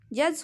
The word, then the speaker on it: judge: ठीक है, तो आप यहाँ पे डी को हटा के पढ़िए तो JUGE, जज हो गया।